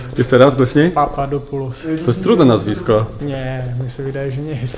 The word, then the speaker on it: Papadopulos: Poćwiczymy teraz wymowę twojego nazwiska. Papadopoulos. Jeszcze raz, głośniej? Papadopoulos.